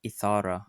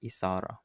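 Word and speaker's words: إثارة: One thing to note is how Isara is pronounced. It's written with a tha, but it isn't Ethara, it's Isara.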